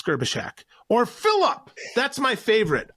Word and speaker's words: Gerbyshak: The last thing you want is that Phil garbage truck? No, it's not. It's Gerbyshak.